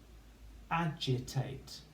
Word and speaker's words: agitate: Agitate. A, J, I, T, ate. Agitate. And we've got that G spelling of J. So it's going to go in this column.